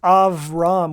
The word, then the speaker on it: Abram: So Abram is actually pronounced Avram with a V in Hebrew.